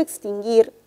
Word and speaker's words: extinguir: iv y la u pero en la palabra extinguir solamente se menciona o se pronuncia la y la u no tiene sonido porque repito porque la palabra extinguirla aún no se pronuncia solamente es parte de un dígrafo por lo tanto este